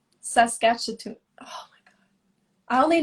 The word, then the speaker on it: Saskatchewan: Janice, how do you pronounce that? Saskatchewan. Saskatchewan.